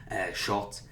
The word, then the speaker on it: short: Okay, when it's a word, again, straight out of English, we do pronounce that T.